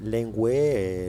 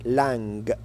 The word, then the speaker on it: langue: aussi langue plusieurs étudiens on dit lengu lengua mais ce n'est pas correct mais c'est normal vous êtes des étudiens débutan alors on est ici pour apprendre on dit langue langue avec les les langue